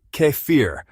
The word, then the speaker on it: kefir: Kefir is a fermented milk drink it is pronounced Keir cfir is made by adding kefir grains to